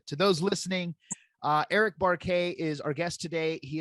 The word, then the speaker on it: Buarque: me if I'm wrong is your last name pronounced barquet correct it it's a tough one and and